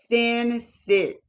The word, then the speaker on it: sensitization: It's it's not sensualization. is s e n s i t i z. Sensitization sensitization of hot thoughts.